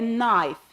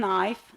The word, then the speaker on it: knife: and followed Pi n so the K is silent so we say knife nothing knife knife word like mnemonic